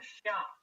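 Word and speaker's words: Xia: uh in Chinese history which is called the Sha uh that's spelled x a modern Western romanization opinion of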